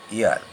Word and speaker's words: heir: তারপর ধরো an year, H ই আই আর, উত্তরাধিকার, হেয়ার নয় কিন্তু এয়ার, অ্যান এয়ার, হয়ের উচ্চারণ হচ্ছে না, এইচের উচ্চারণ যখন না হবে তখনই অ্যানটা হবে।